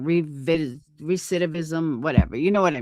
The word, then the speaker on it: recidivism: Reviticism.